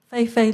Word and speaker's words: Fei-Fei: Lee, how do you pronounce it for your first part of the name, Fei-Fei? Fei-Fei Li.